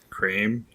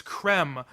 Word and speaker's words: Creme: Oh, you would be wrong, actually, because they've decided that it's no longer cream, it's creme, like as in them, where instead of rhyming with, say, dream, like cream should.